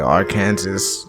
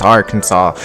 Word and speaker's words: Arkansas: of arkansas usually call it our kansas and i used to be until i got put on and say yo that's not how you pronounce the state's name it's arkansas only two things prevent this tiny town from